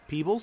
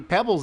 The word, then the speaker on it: Pebbles: How long have I been saying it wrong? And it's actually Pebbles instead of Peebles.